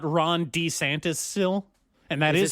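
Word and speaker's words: Ron DeSantis: And that is how you Ron D Santis. That is how you pronounce his name, by the way. He said it. He's let everybody know his name is pronounced Ron D. Santis.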